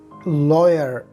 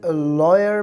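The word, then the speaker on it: lawyer: लॉयर। लॉयर लॉयर कहते हैं वकील को। आपने इसे लॉयर प्रोनाउंस करना है, लायर नहीं, क्योंकि इंग्लिश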